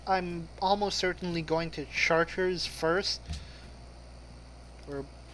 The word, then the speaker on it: Chartres: what that means is in French they pronounce CH like SH, like the idiots they are.